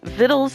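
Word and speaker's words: vittles: time for VD uh I know it's right viddles is how you say it but it's usually spelled a different way right anyways it's about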